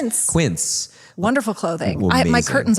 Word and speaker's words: Quince: Like one of the the people I spoke to was like the person that invested in like Kinse Kin say? How do you say it? It's Quince.